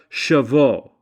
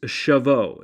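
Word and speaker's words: Shavuot: gathered was to Mark the Jewish celebration of shavo or the Feast of Weeks shavo It's spelled s ha A vuo T now Jewish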